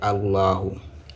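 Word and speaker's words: اللَّهُ: Ici, la lettre là, c'est A. La deuxième, c'est La. La troisième, c'est Hu. Et la prononciation, la lecture, c'est Allahu.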